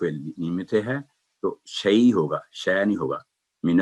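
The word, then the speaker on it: شيء: تو یہی جب تعوذ پڑھتے ہیں, اعوذ باللہ من الشیطان الرجیم, تو شے نہیں پڑھیں گے, شیء ہے, من الشیء.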